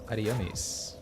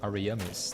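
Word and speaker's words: Ariamis: We are in the painted world of Aryamis or Aramis depending on how you would like to pronounce it.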